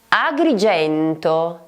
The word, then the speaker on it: Agrigento: Agrigento, Agrigento, che molto probabilmente conosci per la splendida Valle dei Templi. Agrigento, in questo caso abbiamo G-E.